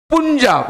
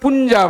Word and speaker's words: पंजाब: पुंजाब, मतलब पुंजाब नहीं, पंजाब। यू is there ना, you have to know, you is silent.